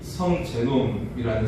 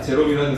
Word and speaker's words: 제롬: 처음으로 라틴으로 번역한 사람이 성제놈이라는 사람이에요 발음을 제대로 해야겠죠 자 제롬이라는 사람인데요 제롬이 예수님의 탓을 하신